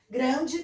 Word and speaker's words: Grande: Grande também, escreve com E, pronuncia I.